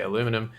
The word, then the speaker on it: aluminum: We say aluminium in Australia. I think Americans say aluminum.